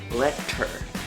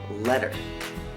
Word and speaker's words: letter: in the middle, and it sounds a little bit more like a D, something like letter, right?